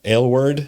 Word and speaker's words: Aylward: Aylward.